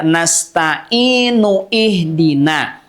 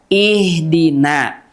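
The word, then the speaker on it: اهدنا: Tidak nasta'inu ihdina. Namun tentunya kalau kita berhenti di nasta'in, iyyaka na'budu wa iyyaka nasta'in. Misalkan berhenti di situ, kita mau lanjutkan, maka dibacanya ihdina.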